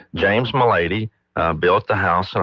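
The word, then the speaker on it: Melady: So it's sounds like my lady depends on how you pronounce it, but it's James Mady uh built the house in approximately 1870.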